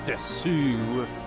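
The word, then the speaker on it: です: You know, since learning Japanese is just like really stands out to me is like desu is usually just pronounced as des.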